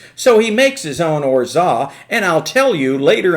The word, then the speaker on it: orgeat: next ingredient is called orza you see it's spelled or geet but it's called orza now when you go